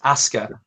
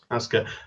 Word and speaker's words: Asuka: I say Oscar, but not Oscar. Asuka. Asuka. Like you saying ask her.